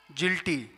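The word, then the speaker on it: guilty: Guard, जिल्टी। तो इस तरह से ये जो दो लेटर हैं ये साइलेंट कब होते हैं, रूल्स लिखे हैं।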